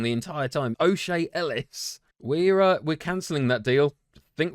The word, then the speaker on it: O'Shea Ellis: My goodness, it's not even Ellis O'Shea. I've been pronouncing his name wrong the entire time. O'Shea Ellis.